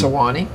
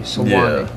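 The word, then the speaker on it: Suwanee: Can you think of a river that's got 3 syllables in it? The man's Sewanee. S-U-W-A-N-E-E. Sewanee.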